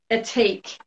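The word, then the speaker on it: Ethique: how do you say the the brand um atik what is it does that come about backwards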